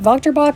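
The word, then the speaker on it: Wächtersbach: those boxer I think Volker Bock is how you say it starts with the W I know it doesn't sound like it but yeah those are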